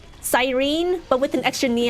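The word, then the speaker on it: Cyrene: Sounds like the knee is almost silent.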